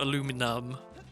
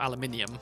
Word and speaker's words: aluminium: so the original name proposed for that metal was alumium um but then then we got aluminum and then we got aluminium and aluminium I think is objectively the correct one based on the pronunciation or the spelling of of all the other metals in the periodic table uh so I have